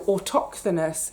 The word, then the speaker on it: autochthonous: So autochthonous, which is AUTO, auto, CHTHONOUS, autochthonous.